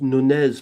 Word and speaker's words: Nunez: You pronounced Nunez properly.